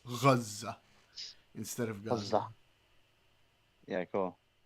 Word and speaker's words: Gaza: Okay, so one thing the far lefties who are super pro-Palestinian do is they don't say Gaza. They say Gaza because they try to say it like the Arabs.